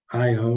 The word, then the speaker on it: Io: this is with the moon Io, or EO, however you choose to pronounce it.